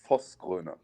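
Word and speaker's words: Vosgröne: It's pronounced Vosgro.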